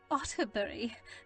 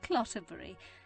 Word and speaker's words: Otterbury: "Otterbury, not Clotterbury. People do have trouble with the name, but that is the most amusing of mispronunciations I have yet encountered.